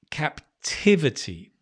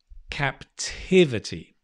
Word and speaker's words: captivity: so important capture capture captivity can you see where the stress has changed from capture to captivity captivity and always with new